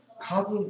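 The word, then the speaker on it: cousin: 実はこれカズンと発音します。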